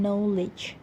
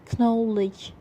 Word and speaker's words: knowledge: silent letters for example we don't pronounce ak or the w sound in knowledge and then in middle english equivalence these letters would usually pronounce for example knowledge these letters would have